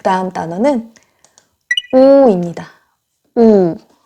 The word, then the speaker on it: 우: 우. 네. 우는 영어의 우 사운드와 비슷한데요. pull, cool, tool, look, book, cook 할 때 그 우 사운드예요.